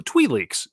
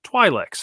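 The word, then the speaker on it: Twi'lek: with boba fett so tweet leaks twilix however you want to pronounce it yeah traditionally like it's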